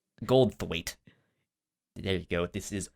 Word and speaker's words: Goldthwait: Goldthwait. Goldthwait.